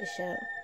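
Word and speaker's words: Ixchel: consider outside influences such as nature the shell pronounced isha was the maya goddess of the moon of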